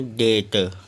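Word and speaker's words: debt: हैं B silent का यदि टी से पहले बी आए तो बी साइलेंट होता है जैसे डी ई बी टी टी से पहले बी आया है तो उसको पढ़ेंगे डेट अगला है डीओ यू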